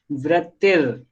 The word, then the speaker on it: वृत्तिर: देखो इसमें जो वृत्तिर इसमें जो द के ऊपर जो र लगा हुआ है, आधा र, उसका प्रोनाउंसिएशन जस्ट ता के बाद किया जाएगा। तो कैसे किया जाएगा? वृत्तिर, वृत्तिर, ऐसे वृत्तिर, ठीक है।